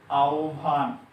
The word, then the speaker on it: আহ্বান: আ, হ এর পরিবর্তনে ও আর ব এর পরিবর্তনে ভ, আহ্বান।